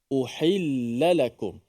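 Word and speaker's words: أُحِلَّ لَكُمْ: pertama alumibat perkataan uhillakum uhillakum ada satu huruf ha yang berbaris di bawah kemudian ada dua huruf lam yang berbaris di atas okey dan kita bacanya dengan dua-dua tu dibariskan di atas dan dijelaskan antara kesalahan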